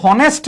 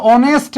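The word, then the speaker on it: honest: থাকে সেটাকে আমরা ধরি এখানে ও এটা কি হনেস্ট বল তোমরা কি কখনো হনেস্ট বল নাকি অনেস্ট বল কি বল অনেস্ট তার মানে এটা র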